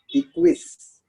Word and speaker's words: equis: Equis.